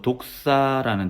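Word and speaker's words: δόξα: 그리스어로 영광은 그리스 발음으로 독사라는 단어인데이 명사는 인정받다를 뜻하는 독해오라는 동사에서 파생되었다고 봅니다.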